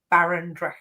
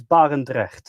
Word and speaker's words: Barendrecht: wonderful OM systemmer, Ben Baron. Hey, Ben. Hello. Hello. Did I pronounce that right? Baron. Yeah. Yeah, it's bar and dre, but you're close.